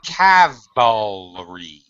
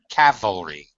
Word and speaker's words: cavalry: Well, you got to pronounce it the way it's spelled. So Calvary. Calvary. As opposed to the second one, Ken, what is the cavalry? Cavalry.